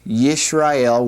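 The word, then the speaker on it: ישראל: This, by the way, is the Hebrew word Israel. Yes. Yesel would be the way that would be uh pronounced.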